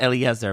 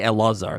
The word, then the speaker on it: Elazar: the English they wrote Eliezer, but Eliezer Eliezer Eliezer. I don't know it's should just say Elazar. I think that's just a Germanic way of writing it. Yeah, that's right. They mean to say Elazar.